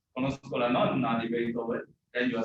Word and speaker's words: nonna: Nona and nonna. Okay. Ninth. So you say I know the ninth of Beethoven. You say you know the ninth symphony of Beethoven from Scola No. wrong, you say, conozco la nonna di Beethoven, then you are saying, I know